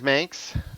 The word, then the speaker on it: Manx: The Meyers Manx rhymes with Spanx.